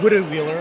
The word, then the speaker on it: Wittenweiler: some things out of wittenweiler today I would love that I have been I have been corrected before it's a wooden wheeler I think correct Swiss German pronunciation so if you do